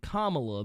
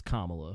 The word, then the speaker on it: Kamala: And then when she became VP, they were like no, actually, her name is Kamala. It's not Kamala.